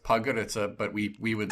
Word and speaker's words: Podgorica: I just told you it's pronounced Podgorica, but we would spell it like Podgorica.